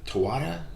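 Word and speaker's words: Taweret: this other kind of um i think uh tawada is that how you say her name you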